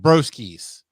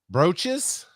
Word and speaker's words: Broesches: I think that is pronounced broskies. That's how I'm going to say it. Broskies. But how do you guys think that name is pronounced? Brooches?